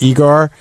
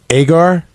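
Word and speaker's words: Egar: I said it's Igor. It's really Agar. Yeah. Yeah, Shuli Agar, but I said Igor.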